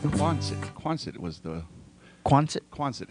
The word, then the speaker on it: Quonset: Hey, yeah, Angela, it's Quonset. Quonset was the... Quonset? Quonset, how to pronounce it.